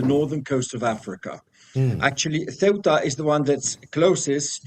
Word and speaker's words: Ceuta: Indeed, the right pronunciation is Ceuta.